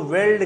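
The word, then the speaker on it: veldt: हाँ, वेल्ड का spelling VELD ही होता है ज़्यादातर, यहाँ टी भी जोड़ दिया है, बिल्कुल शुद्ध दिया है। वैसे VELD खाली आपको लिख देता है, हाँ, टी साइलेंट हो जाता है। हाँ तो लिखा जाएगा ना, बोलना में साइलेंट है।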